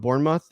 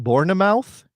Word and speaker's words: Bournemouth: first of all with Bournemouth Bournemouth he's going to have to have a big I'm sorry. Yeah. I think it's called I think it's pronounced Bornemouth. I think that's how you say that.